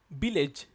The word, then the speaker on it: village: We are touching our lip to pronounce this word, village, but this is not starting with the alphabet after A, B. Right? It's starting with V, V.